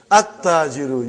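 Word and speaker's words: التاجر: At-tajiru. You did not pronounce lam. Why you did not pronounce? Because it is sun letter.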